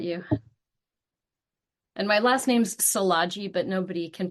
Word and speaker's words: Szilagyi: And my last name's Salaji, but nobody can pronounce it unless you're Hungarian, and that's okay.